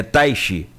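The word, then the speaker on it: Teich: A pronúncia se falou como é que é, Cláudia? Tati. Taish. Até quem me ensinou foi minha esposa de Taish Chuan. Não tem nada a ver uma coisa com a outra, mas é a pronúncia parecida. É Taishi.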